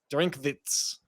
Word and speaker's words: Drinkwitz: Eli Drinkwitz, who is, do you like how I did the German pronunciation of that? Drinkwitz, okay?